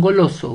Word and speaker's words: goloso: Vamos con goloso. Goloso. Tiene la mayor fuerza de voz en la penúltima sílaba.